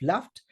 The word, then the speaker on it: Luft: it Harry Ingham and Joseph left or Luft as you might want to pronounce it these were the two